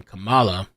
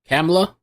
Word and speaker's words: Kamala: but are now team Kamala that that's the other thing too people are like they're upset about the way people say Kamala it's Kamala or camla I would say Kamala but there's something cama